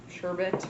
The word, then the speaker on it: sherbet: It comes out to a nice slush, so this would be great for like a sherbet, or sherbet is actually how you pronounce it.